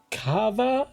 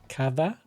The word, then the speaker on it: Cathbad: Cathbad is the English version of his name, but I think it's pronounced Kava. Kava? I struggle with the Irish names. I believe it makes V noises, so Kava.